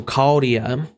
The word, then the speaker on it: Chaldea: The CH is like a K, so Chaldea.